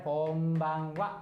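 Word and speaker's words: こんばんは: Oke, jadinya wa gitu ya, bukan ha. Ini juga karena khusus gitu ya. Oke, jadi cara bacanya konbanwa ya. Konbanwa. Kalau ini bukan ha ya teman-teman ya, walaupun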